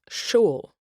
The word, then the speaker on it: shovel: The word shovel in certain dialects of Middle English was pronounced shool.